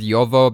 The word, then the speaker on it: Jovo: Rose's story follows Milos' great-grandparents, specifically his great-grandfather, whose name is Jovo, which I could pronounce in many different ways. Apparently it's pronounced differently, mattering on the region that you're in, but I'm going to go with Yovo because that rolls off the tongue the best, especially since I'm about